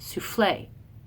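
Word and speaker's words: soufflé: AIIMS than we do with the unstress stress like souffle if you try to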